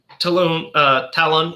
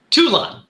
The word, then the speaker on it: Toulon: And he, and then runs in and, Talon, how do you pronounce his last name? Andre Talon, right? You're doing good. It's Toulon.